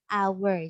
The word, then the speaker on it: hour: Ya, jadi when we read this word, ketika kita baca, H-nya itu silent, tidak terbaca. Ya, jadi bacanya an hour.